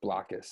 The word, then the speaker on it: Blokus: What would our name of the game have been if we knew it was definitely pronounced Blokus and we had to think of something with block?